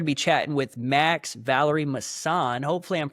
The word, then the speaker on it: Vallery-Masson: Um so today we're going to be chatting with Max Valerie MSAN. Hopefully I'm pronouncing your name right, brother.